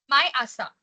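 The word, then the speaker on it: 毎朝: Sensei, just quickly, the fourth sentence, the first word, how did you pronounce that? Mayosa? My asa.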